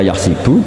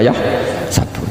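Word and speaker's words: يحسب: Karena dalam qiraat sab'a ada yang baca yahsibu, qiraat kita baca yahsabu. Tapi guru-guru kita kalau ngajar fikih itu bacanya yahsibu. Tapi kalau baca Quran yahsabu.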